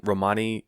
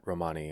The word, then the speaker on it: Romani: or to Romania and in their language the emphasis is on the first syllable oh okay interesting and